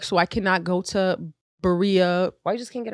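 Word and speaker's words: birria: in their berea taco and that is why they are rain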